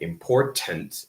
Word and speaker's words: important: The thing is that in American English, T is actually a very complicated consonant because we don't always pronounce it the same. Sometimes we pronounce it quite differently. One of those examples is this, which is a glottal stop. So we don't say important always. We can. It's not bad. It's not wrong.